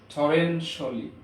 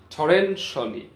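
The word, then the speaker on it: torrentially: পারেন ইট has rained টরেনশিয়ালি, টরেনশিয়ালি না টরেনশিয়ালি, টরেনশিয়ালি, শিয়াল ইংরেজিতে উচ্চারণ হয় না, টরেনশিয়ালি, টরেনশিয়ালি।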